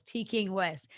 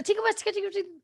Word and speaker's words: TKing Wesst: by saying that like every time i say your name i have to say in all the syllables t king west because like if you say it off as a ticket yeah and when your